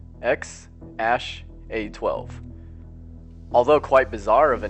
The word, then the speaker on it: X Æ A-12: his wife Grimes that's how it really is pronounced ex ash a 12 although quite bizarre of a name ex a